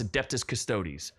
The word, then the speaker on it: Adeptus Custodes: the adeptus the custodi I think it's adeptus custodes or custodes adeptus I know a lot of people can't pronounce oh it's adeptus custodes they're like the uh